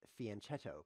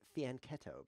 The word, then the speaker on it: fianchetto: Now, you might think it's pronounced fianchetto, but if you think that, you're wrong, because it's fianchetto, because it's French.